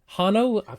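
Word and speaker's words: Hanno: was like all right there was no h pronounced in the film but okay yeah right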